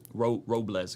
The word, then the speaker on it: Robles: last name ad uh it's Robles like gu as if it was a z Ro Robles got and your title